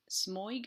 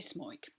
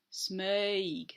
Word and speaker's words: Smøyg: actually let's start again we don't say smoke I say that as an Australian smog is spelled SM I with a slash through it yg the O with a slash through it is an earth sound and then we've got that Y which gives scizor you as well so